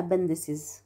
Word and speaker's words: appendices: هنشيل الاكس وهنحط اي سي اي اس، هنشيل ال IX هنحط ICES، يعني appendix هتبقى appendices appendices، index هتبقى indices.